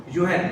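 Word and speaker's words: Jürgen: हाँ, Habermas, जुगेन Habermas, या उसको प्रोनाउंसिएशन करते हैं यूहेन, right, यूहेन Habermas gave the concept of crisis of legitimacy.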